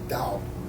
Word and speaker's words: Tao: And Tao is, I'm only saying that because that's how it's spelled, but it's actually pronounced Tao. And I don't know why that is, but my Chinese friend said that's pronounced Tao.